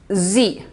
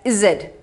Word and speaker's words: Z: alphabit yes it is z okay some of you say it is as Zed so we pronounce it as Z what's your last alphabet